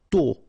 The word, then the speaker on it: tôt: Tôt. Okay, final D not pronounced, and then this O accent circonflexe is a bit stronger than normally. So tôt, tôt, tôt.